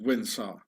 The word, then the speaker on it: Windsor: wins saw original saw you pronounce it win sir Windsor and Sarkozy the King